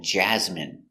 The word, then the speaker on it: jasmine: Stress. The first syllable.